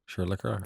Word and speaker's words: Leclerc: Leclerc. The driver for Ferrari. Sorry, that's how you pronounce it.